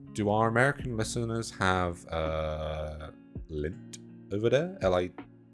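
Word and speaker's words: Lindt: But do our American listeners have Lint over there? LIDNT? How do you pronounce it again? How do you spell it? Gosh, I love L-I-N-T-T.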